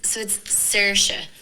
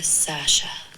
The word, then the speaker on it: Saoirse: it's Saoirse, but it's easier for Americans and English people to say Saoirse or Sasha.